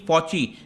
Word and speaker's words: Fauci: जाते हैं, doctor Anthony फॉची, ध्यान रखिएगा ये फॉसी प्रोनाउंस नहीं होगा, फॉची CHE।